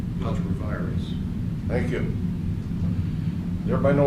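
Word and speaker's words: ultra vires: But, how do you pronounce it, David? Ultra-virus? Ultra-virus.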